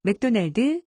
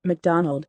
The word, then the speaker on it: McDonald: 우리 발음으로 먼저 들어보고 영어로 들어보도록 하지요. 로드리게즈, 헤르난데즈, 몽고메리, 맥도날드, 라미레즈, 곤잘레스 모두가 한국식 발음이고요. 미국식 발음은 다음과 같습니다. 들어보시지요. Rodriguez, Hernandez, Montgomery, McDonald, Ramirez, Gonzalez.